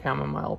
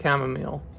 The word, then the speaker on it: chamomile: I'm also getting used to pronouncing chamomile properly. I used to think it was chamomile, but I was recently corrected on that.